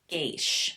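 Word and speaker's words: geas: G E A S pronounced geish.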